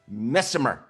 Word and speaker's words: Missimer: Arianne Missimer.